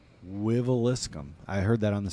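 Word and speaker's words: Wiveliscombe: I feel like I can pronounce the city that they're from, and I've never even seen it spelled out. Wiveliscum. Wiveliscum.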